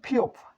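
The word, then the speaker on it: 피읖: ফিওপের উচ্চারণ ফ, প্রথম স্টপে ফ, দ্বিতীয় স্টপেও ফ, এবং তৃতীয় স্টপে প উচ্চারিত হয়।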